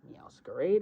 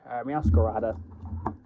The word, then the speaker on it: Meowscarada: Meowscarade, right? Meowscarade. Meowscarada. I want to say Meowscarade because it's got like the mask on, but it's technically Meowscarada. I'll always say it wrong though, just because it's...